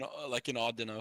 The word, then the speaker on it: Audino: lane monkey is like in Audino. Is that how you say his Uh, name? Odd no's are the odd no is how you say it's now, yeah.